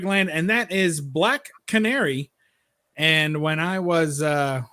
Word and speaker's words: Canary: what that meant I didn't know what a cannery was but I was like well I guess